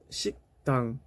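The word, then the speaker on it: 식당: الكلمة الثانية شيكتان. نكتب شيكتان شيكتان لكن نطق شيكتان شيكتان من جر باتشيم كيوك، فيجب أن تنتبه إلا نطق في هذه الكلمة. مفهوم؟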